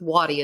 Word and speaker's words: Wadi: I always heard Dad and the guys call him Wadey, but I'll stick with Wadi as I believe that would be the proper pronunciation.